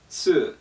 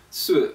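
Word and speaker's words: 素: though is really simple it's pronounced in the fourth tone um you start start mid High sort of and go low I'm a mumbler and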